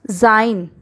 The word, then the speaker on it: Sein: Next, Sein. S is followed by E here. Sein means his.